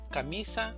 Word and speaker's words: camisa: Camisa tiene tres sílabas, una sílaba tónica y dos sílabas átonas. La mayor fuerza de voz la tenemos en mi, camisa, camisa.